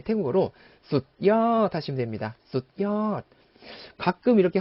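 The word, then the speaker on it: สุดยอด: 숫이라면 그냥 숫 정확히 해주자는 거죠. 어떻게요? 숫엿 하고 숫 부분을 의식적으로 딱 끊어주자는 거죠.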